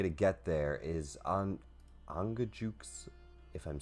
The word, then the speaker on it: Angajuk: the only way to get there is an angajuk if I'm saying that.